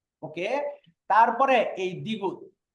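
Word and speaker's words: 디귿: তারপরে এই দ্বিগুত, দ্বিগুত, দ্বিগুতের উচ্চারণ হয় দ, থ, ত।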